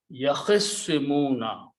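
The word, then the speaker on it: يَخِصِّمُونَ: Okay, so if you do that, so it becomes swad, and now it becomes yakhissimuna. Okay, or instead of yakhtasimuna, its swad has a shadda and it's pronounced yakhissimuna.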